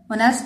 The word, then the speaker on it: honest: Honest is starting with H and H is silent.